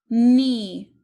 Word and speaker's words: knee: right number two knee knee this has ghost letter digraph k n knee is spelled k n